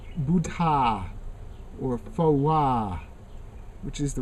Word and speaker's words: Phowa: And if you say the names Buddha or Phowa, which is the right way to say it, then you see the chin, the jaw going up and down.